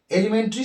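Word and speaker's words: elementary: প্রাথমিক বিদ্যালয় বলছি সেটাকে আমেরিকান ইংলিশে বলা হয় এলিমেন্টারি স্কুল। দেখুন বানানটা একটু সামান্য একটু অসুবিধাজনক হয়।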